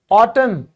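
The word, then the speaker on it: autumn: यदि किसी शब्द के आखिर में एन एन आ जाए तो आप एन को साइलेंट मानो। जैसे पतझड़ ऑटन। एन साइलेंट भजन।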